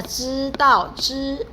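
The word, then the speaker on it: 知道: 要你知道你最美, 来知道, ini bacanya 知道 jadi ini ZHI bukannya bacanya ZHI ya, tapi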